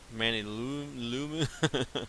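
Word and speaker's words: Manyullyn: like this alumini manillium i think it's a pronounce it manny lumen from cobalt nardite that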